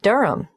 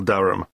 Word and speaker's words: Durham: how do you spell Durham d h a m of course I should know that but it's just one of those names that sounds quite different from the way you spell it it is confusing I've